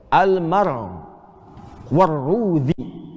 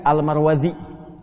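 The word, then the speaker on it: المروروذي: lihat cara baca ya cara bacanya ada dua yang di sini almar warudzi almudzi ya itu kalau ada di sini saya berikan e apa gilaf apa depannya tlif e bagian depan jilid depan ini ada tulisan mim ra wau ro wau D dalal ya almar warudzi cara bacanya karena orang terlalu sulit maka seringkiali disingkat almarwadi ya nasabnya ke sini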